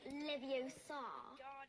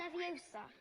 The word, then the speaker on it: Leviosa: Besides, you're saying it wrong. It's Leviosa, not Leviosa. You do it then if you're so clever. Go on. Wingardium Leviosa.